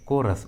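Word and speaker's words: chorus: इस ट्रिक के अनुसार यहाँ पर एच का उच्चारण नहीं हुआ है, एच साइलेंट है, कोरस।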